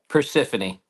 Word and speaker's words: Persephone: I come up in that chat, and I always wonder how to bloody pronounce it. Yeah, Persephone.